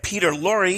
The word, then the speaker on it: Peter Lorre: We're here today with Lee David Zlotoff and Peter Lorre. Am I pronouncing that correct, Peter? Yes, you are.